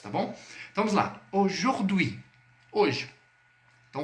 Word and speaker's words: aujourd'hui: Quando você se deparar com a junção do A e do U em francês, você sempre vai pronunciar com o som de o circunflexo.